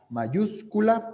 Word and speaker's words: mayúscula: una letra mayúscula dios mayúscula porque es lleva acento en la uv porque es una palabra esdrújula maius entonces siguiendo a